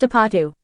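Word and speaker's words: 아파트: takes its name from the Korean word for apartment pronounced apatu curious to try this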